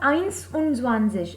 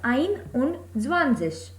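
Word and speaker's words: einundzwanzig: Here again it is not Eins und Zwanzig, as one has the pronunciation of Eins, but as the rule says S and Z cannot be written together, so here also S has been eliminated, so the pronunciation and the spelling becomes Ein und Zwanzig.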